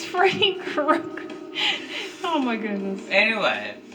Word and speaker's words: Krueger: Freddy Krueger, not your Cougar. Sister laughed Yeah, at it. because you called him Freddy Cougar, and no one ever argued with you. His name is Krueger. It's Freddy Krueger.